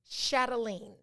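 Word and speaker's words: chatelaine: e l a i n e it is pronounced chatelene it's a noun it comes from 19th century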